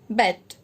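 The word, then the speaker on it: Beyt: Now Khadir Bet, B-E-Y-T, it is pronounced as Bet.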